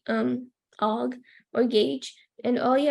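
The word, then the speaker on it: AWG: the camera but um this is how you say it so it's OG it's American wire um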